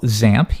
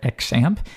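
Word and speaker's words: XAMPP: at something we call zamp you might hear some people call it exam either one really works there's no official pronunciation but most people do zamp and you'll see actually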